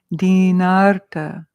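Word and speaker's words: dīnārta: Dinarta. So you can tell that when there's a line over a vowel, it means it's a longer. It gets 2 beats instead of 1.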